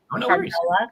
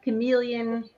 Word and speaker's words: Carmella: Carmela Carmela calm let you know you're the only one that has said it right several times. Chameleon Chameleia I got the other day.